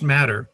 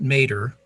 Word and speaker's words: matr.net: And it's pronounced matter, not mater, because the economy does matter.